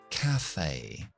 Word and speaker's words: café: Una cafetería, aunque se pone una tilde, encima de la E, acentuamos la palabra al principio y decimos café. Café. No café, sino café.